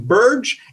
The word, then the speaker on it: Birge: we are here today with kent ritter from burge and held asset management is that the right pronunciation kent yeah you nailed it great great